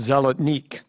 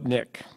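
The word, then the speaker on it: zolotnik: TARIK ZELLA NICK, ZELLA NICK WAS USED FROM THE 10th TO THE 20th CENTURIES AND WAS BASED ON A COIN OF THE SAME NAME. FATHER ALTERNATE PRONUNCIATIONS? SOLID NICK.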